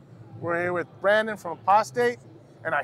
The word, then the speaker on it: Apostate: it's not prostate it's apostate yeah see I told you aost somebody tell Matt Booth it's pronounced apostate not prostate all right so brother